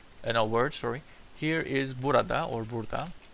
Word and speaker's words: burada: Here is burada or burada. We usually spell it this way, but we don't pronounce the a.